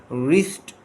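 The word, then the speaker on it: wrist: एंड I shook it of, then it landed on माई रिस्ट, W silent है।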